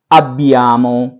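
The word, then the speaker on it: abbiamo: नोई के लिए होगा अब्बियामो, आ बी बी ई आर एम ओ, अब्बियामो।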